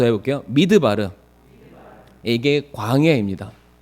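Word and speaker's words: מדבר: 적이 한번 있는 것 같은데 성도님들, 광야가 히브리어로 뭐라고 읽는지 기억하시죠? 광야, 믿습니다. 아실 거라고. 광야. 넘겨주시길 바랍니다. 광야 히브리어로 한번 따라해 보겠습니다. 미드바르. 한 번 더 해볼게요. 미드바르.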